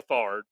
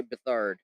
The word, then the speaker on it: Beathard: It's Beathard. I don't know how to say it. Yeah, It's like he's you been can't say around. He's been a penguin. backup for most Say of his penguin. career. I say Beathard.